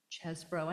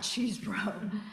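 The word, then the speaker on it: Chesebro: about Kenneth chesbro and it's pronounced chesbro and not cheesbro even though he's from Wisconsin um so one of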